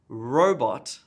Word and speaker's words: robot: I would do is place emphasis on dog robot the emphasis on the first syllable in robot fantastic fantastic emphasis on